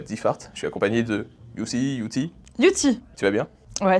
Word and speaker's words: Youthie: Et que du coup, ça se prononçait Yuti.